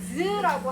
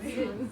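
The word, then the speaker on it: ㅿ: 자, 반치음은 어떻게 소리가 나냐면 시옷과 지읒의 중간 발음이야. 자, 네? 그래서 어떻게 발음해야 돼? 시옷과 지읒의 중간 발음. 지읒을 느끼하게 발음하면 됩니다. 그렇지. 즈라고 하는 거야. 즈.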